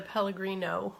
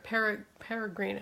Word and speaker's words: Pellegrino: And then fill that the rest of the way with the Pellegrino water. Peregrino, I always say it wrong. Pellegrino, is it with an L?